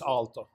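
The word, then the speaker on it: Aalto: in Finnish uh no it's just Alto even in Finnish yeah got it we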